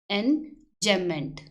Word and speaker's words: enjambment: इसकी प्रोनाउंसिएशन है एंजैम्पमेंट, इसमें बी इज साइलेंट, एंजैम्पमेंट।